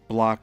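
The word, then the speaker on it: Bloch: And block is spelled B-L-O-C-H.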